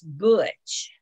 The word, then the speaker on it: Butch: Okay, it's a name and it's Butch. Butch? Oh, okay. Butch. Uh-huh. Like you, but Butch. Yeah, it sounds like a U.